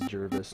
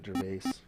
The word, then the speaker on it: Jervis: prizes and packages haha it is Jervis not Gervais so I've been saying it right this whole time you've been saying it wrong um good question there